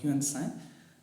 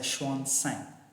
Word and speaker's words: Xuanzang: So Xuanzang, in our term we call him Huansang. So actually it's pronounced as Xuanzang.